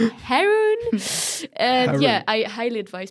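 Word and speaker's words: Haroun: his name is harun with an H but I don't pronounce it because I'm French Haron yeah Haron Haron and yeah I highly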